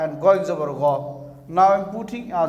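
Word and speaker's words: غَ: And you have to pronounce goin zabar go. Goin zabar go, not gain zabar ga.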